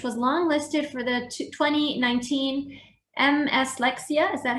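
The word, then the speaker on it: Mslexia: longlisted for the 2019 MS Lexia. Is that how you pronounce it? Oh, Miss Lexia, just one word.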